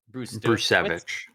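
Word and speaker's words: Brzustewicz: round pick uh sorry how do you pronounce a hunter Bru brich BR yeah Z is silent yeah those those Zeds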